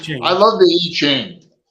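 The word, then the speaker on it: I Ching: advise on our current situation okay that that's pronounced I love the E chain it's a Lester Crowley level amen it was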